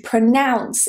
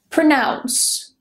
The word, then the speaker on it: pronounce: While we're here, I also want to mention about the verb to pronounce. It is not pronounce. Pronounce. The next one is certificate.